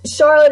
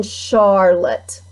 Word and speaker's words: Charlotte: This E is not pronounced in Charlotte. You don't use it. It's there for looks.